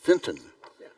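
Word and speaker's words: Fintan: a formal welcome from the president did I pronounce that correctly more or less Finton oh I left out the tea okay thank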